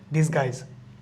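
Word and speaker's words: disguise: Yuta silent থাকতে হচ্ছে ডিসগাই ডিসু হবে না ডিসগাই অনেক সময় আমরা একবার পড়ার সময় ভুল করে ডিসকুইজ বলতে পারি এটা ডিসগাইজ ভি এর কোন হচ্ছে গিয়ে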